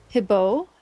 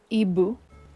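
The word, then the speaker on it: hibou: Ibu for the first one. Ibu and shet.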